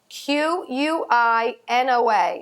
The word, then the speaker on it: quinoa: quinoa, and that's spelled Quinoa. I know, you're probably looking at that all the time and saying, how do you say that? It's quinoa.